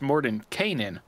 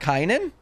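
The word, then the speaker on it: Mordenkainen: my goodness sorry also fun fact it's more than Kanan more than Kanan it's not kainan I like it's more than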